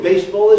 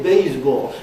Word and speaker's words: baseball: Instead of saying baseball, they say baseball.